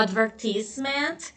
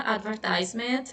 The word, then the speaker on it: advertisement: A pronúncia britânica, né, seria a advertisement, né? E a pronúncia americana, advertisement, eu vou pronunciar advertisement, acho mais fácil de pronunciar, ok?